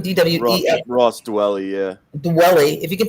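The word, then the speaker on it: Dwelley: pick up ross dooley willie how do you pronounce his last name dw ross dwelling yeah dwelling if you can pick up ross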